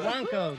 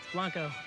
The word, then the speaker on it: Blanco: I want to break out the Don Julio Blanco. Blanco, Dad. Blanco. That's how you pronounce it.